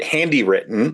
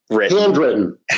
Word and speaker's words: Handwrytten: And so, if people want to get more information uh about handywritten, sorry, handwritten handwritten I don't know why I keep Yeah, it's okay.